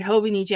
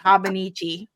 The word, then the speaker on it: Hobonichi: my channel and then you were still pronouncing it wrong and I was still pronouncing it wrong even though I heard them say it hobonichi I'm like habichi you know what in